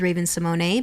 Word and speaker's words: Raven-Symoné: record straight the correct pronunciation of my name is Raven Simone because there's an accente glove over the E which is mostly in French speaking countries so that's why I